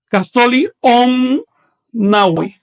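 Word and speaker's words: caxtolli onnahui: 18 son tres barras y tres puntos y se pronuncia Castoli y 19 son tres barras y cuatro puntos. Se pronuncia Castoli on nawi.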